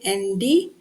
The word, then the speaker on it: island: Island, it's pronounced as island, S is silent.